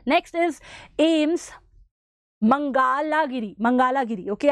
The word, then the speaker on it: Mangalagiri: 9 next is ases mangalagiri mangalagiri okay I always pronounce this wrong it's mangala giri if I still have